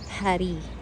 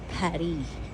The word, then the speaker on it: Paris: Pary. Yung Paris. Paris. Pary. Yan ang French pronunciation ng Paris.